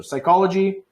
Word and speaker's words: psychology: after the letter P if it's PS most of the time we do not say the P so we never say